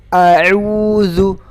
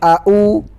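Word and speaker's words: أعوذ: Ingat, yang pertama, banyak kesalahan yang pertama itu ketika membaca ta'awudz itu menyamakan antara hamzah sama ain. Ingat, a'udzu. Yang pertama hamzah a, yang kedua ain u. Jadi a'udzu, bukan au, bukan juga a'u, tapi a kemudian yang kedua ain, a'udzu.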